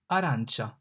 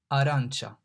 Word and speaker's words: arancia: A, arancia. The A here is pronounced like A in father. Father, fa, a, arancia.